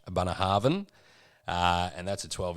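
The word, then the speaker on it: Bunnahabhain: then my one is the bunner harvan so that's how they pronounce it did a bit of research abana harvan uh and that's a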